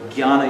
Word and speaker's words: jnana: First one is karma yoga, bhakti yoga, jnana yoga is how that's pronounced, and raja yoga.